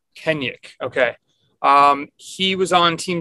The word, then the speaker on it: Kennaugh: So, how do you pronounce the last name? Kennaugh. Kenyuk.